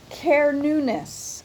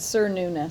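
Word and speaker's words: Cernunnos: Oh, Kerunis. Kerunis. I would have said Sir Nunes. So, I'm glad I looked.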